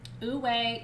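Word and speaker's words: wu wei: high thank you ms posted it for you ooh way is w u w e i these masters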